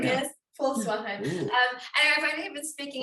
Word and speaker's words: Volkswagen: The thing is, my car was, I was sponsored by Volkswagen, that's how you say it, because we say Volkswagen in Afrikaans. I've only been speaking English for 9 years. Volkswagen.